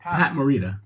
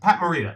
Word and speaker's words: Pat Morita: Pat Morita. Pat Morita.